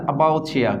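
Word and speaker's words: about you: তো সেটা কিভাবে সম্ভব, যেমন অ্যাবাউট ইউ, অর্থাৎ এটাকে যদি আমরা ট্রান্সক্রিপশনে চলে যাই, তা অ্যাবাউচিয়া কি উচ্চারণ হবে এখানে, অ্যাবাউচিয়া।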